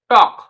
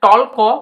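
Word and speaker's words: talk: দেখে নিতে পারো তো টি এল কে উচ্চারণ হবে টক কিন্তু এখানে টলক উচ্চারণ হবে না সেরকমভাবেই নেক্সট শব্দটি আমরা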